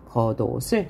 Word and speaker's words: 겉옷을: 얇은 겉옷을 이 옷이 실질 형태소이므로 아까 했죠. 겉옷을 이렇게 읽어야 맞는 것이고요.